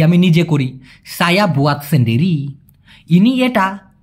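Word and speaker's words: sendiri: এতে একলা অর্থাৎ নিজে, একলা অথবা নিজেকে মালয়েশিয়ান ভাষায় বলা হয় সেন্ডেরি। কি বলা হয়? সেন্ডিরি। অনেকে বলে সিন্ডিরি। কেন ভাই, কেন সিন্ডিরি বলবেন? এস ইতে আপনার সে উচ্চারণ হয়, SEN সেন, DIRI ডিরি, সেন্ডিরি।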